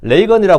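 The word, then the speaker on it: Reagan: 로널드 리건입니다 이름이 본명이 근데 리건이 대통령이 되자마자 기자들 앞에서 나는 리건이라고 부르고 보다는 레이건이라 불러주시고요 리건이에요 근데 릭은 보다는 레이건이라 불러 달라는 거예요 한국의 윤석열 대통령인데 바람대로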